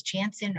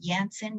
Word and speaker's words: Janssen: & Johnson, which sometimes is referred to as Janssen or Janssen, you might hear it pronounced.